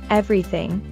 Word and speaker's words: everything: way also note that everything is a three-syllable word we pronounce it as everything everything and thy s